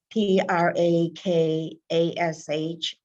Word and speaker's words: Prakash: you might want to look him up it's p r a k a s h nair n a i r pronounced prakash he's breaking down these traditional four